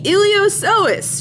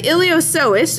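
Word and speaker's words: iliopsoas: going to start with the ilos sois remember p is silent now the ilos sois is going to originate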